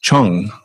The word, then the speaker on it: Chang: broadcaster's to say it Chang as it's spelled but it's actually which the CH a n but it's it's um it's actually pronounced Chung they're telling everybody to